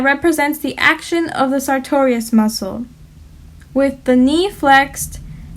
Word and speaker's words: sartorius: action of the sartorius you can think sartorius sounds like the word victorious and when a pirate